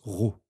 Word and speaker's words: rho: La masse volumique d’une espèce chimique se note avec cette lettre de l’alphabet grecque, qui se prononce rho.